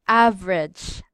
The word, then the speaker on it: average: Okay, so instead of saying it on three syllables as average, that is three syllables, right? So in Native American speakers, they read as average. Average. Average, only two syllables.